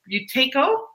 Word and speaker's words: Buteyko: of other benefits right away, contact Lorraine about Buteyko.